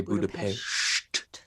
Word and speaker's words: Budapest: premiered in hungary in how we say budapest but they say budapest like be quiet kind of uh pronunciation and so they the